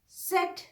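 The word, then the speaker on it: Zett: सेट या जेड, इस दोनों प्रोनाउंसिएशंस का फर्क आप सीखिए. जैसे हम नॉर्मली इंग्लिश में कहते हैं जेड, जर्मन में कहते हैं सेट.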